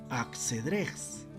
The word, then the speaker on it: Axedrez: Es en este horizonte cultural que se hispaniza el nombre del juego de Ash-Shatrang, que en el español antiguo se pronunciaba Axedrez, y con el uso se popularizó y devino en el nombre que actualmente conocemos como el ajedrez.